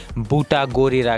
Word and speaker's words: Butagorira: लोग उसको बोल देंगे बट न ही उसका हिंदी ने मारा है बूटा गोरा आप स्पेलिंग चेक कर सकते हो वह लास्ट में जो है वह आता है गोरा ना कि गोरिल्ला तो यह प्रॉब्लम सिस्टम